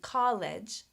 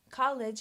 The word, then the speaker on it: college: And one more thing I want to mention, college. College has 3 vowel letters, but only 2 syllables. College. College. When a word ends in an E, that E is not pronounced.